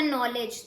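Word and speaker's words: knowledge: जैसे हमारा वर्ड था नॉलेज, तो हम क्या करते हैं, नॉलेज में के को रीड नहीं करते, सीधा एन से रीड करते हैं। तो ऐसे ही एक क्या वर्ड है हमारा, लिखा जी एन ए एस एच है बट हम इससे पढ़ते क्या है, नैश।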